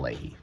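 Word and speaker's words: Leahy: Is it Is it Chris Ley? Because I know Christine Lehey is a like a a sports reporter. What's this guy's name? I don't want to get the name wrong. It's Kyle Lehey.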